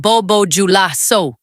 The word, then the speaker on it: Bobo Dioulasso: And the president of the Alliance of Sahel States, Ibrahim Traoré, was watching from Bobo Dioulasso, pronounced Bobo Dioulasso, where he had been opening a national cultural festival when the first explosion hit.